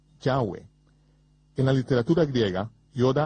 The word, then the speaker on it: Yahweh: ni siquiera lo sabían yo pronuncio su nombre yahwe yoos dijo que había cuatro vocales sobre la mitra del sumo sacerdote yot he va he que son pronunciadas como vocales en un solo respiro yahwe fluido yahwe en la literatura griega